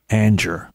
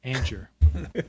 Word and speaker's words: Angier: It's Angier. Angier. Kind of like anger. Yeah. Angier.